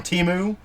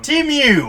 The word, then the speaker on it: Temu: Temu. Did I say it right this time? I think. You always say it wrong. Temu. That's what you always say. Temu.